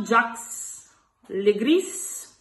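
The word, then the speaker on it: Jacques Le Gris: E poi il terzo protagonista è lo scudiero Jax Le Gris, si pronuncia così, interpretato da Adam Driver.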